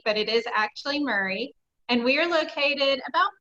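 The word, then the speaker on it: Maury: I know it looks like it should be pronounced Mari but it is actually Murray and we are located about 45 minutes south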